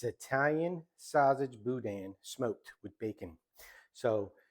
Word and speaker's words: boudin: to this budman and some people call it buen some people call it Budan but it's actually pronounced from what I've been told as Budan so it is um store-bought Budan that I